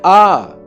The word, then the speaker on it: hour: a vowel sound because the letter H is silent in all these words. So the indefinite article an has come before each of them and not a. Now listen for clarity. An hour, an honor, an heir.